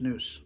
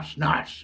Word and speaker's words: snus: That's actually pronounced snus. Nah, snus.